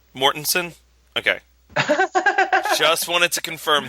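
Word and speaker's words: Mortensen: real quick how is vgo's last name pronounced mortensson mortensson okay just wanted to confirm that for this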